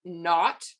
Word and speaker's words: naught: letter that's the subscript we pronounce that not which is not n-o-t that is actually and